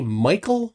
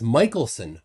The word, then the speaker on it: Michelson: say it wrong twice it's not michael morley it's michelson morley it's two people albert